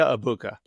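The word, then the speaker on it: Egbuka: A Mecca Ibuka. Did you see the And just for people who don't know, the G is silent. It's a Mecca abuka.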